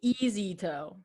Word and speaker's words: Eazito: So I come to you today with my company, Easy Toe.